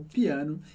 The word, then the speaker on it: piano: Aqui a gente tem o le, que significa o em francês, e piano, que é o piano. Importante com a sílaba forte no final, piano. E ele termina com outra palavrinha que você também já conhece, que é aussi, que significa também, aussi.